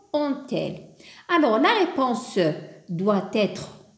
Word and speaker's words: ont-elles: Et là aussi, on n'a pas inséré le T de l'euphonie, le T au milieu, parce que on se termine déjà par un T. Donc, on a la prononciation ont-elles.